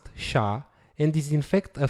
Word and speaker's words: SHA: 256 sh stands for secure hash algorithm is pronounced sha and is in fact a family of more